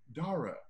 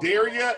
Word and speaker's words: Darragh: Because you said Darragh, and I want to call you Henry Darragh. Yeah, I'd say I dare you to forget how to there pronounce. We go. I dare you to forget. Like O'Hara.